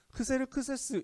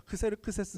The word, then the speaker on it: 크세르크세스: 이름 좀 힘든 점 크세르크세스 잉 금 그 세 르 크 세스 일생과 이 생각 그 정도 되요 그래서 이름은 뭐 그 그리스식 발음입니다 크세르크세스 라는 발음은 그래서요 이름의